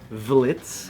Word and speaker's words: Vlitz: We got a fan named Vlitz, or Vlitz. What's up, Blitz? Rhymes with Blitz.